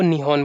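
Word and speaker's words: 日本: पर अभी भी अगर आप जाओगे तो जापान में वो अपने आप को निहॉन बोलते हैं, तो असल में वो निहॉन नाम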